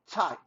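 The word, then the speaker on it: 菜: chinese language in mandarin thai c-h-a-i actually uh it's spelt c-h-a-i but it's pronounced more like t-s-a-i thai okay it symbolizes dishes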